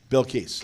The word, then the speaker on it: Bilkis: Bilkis.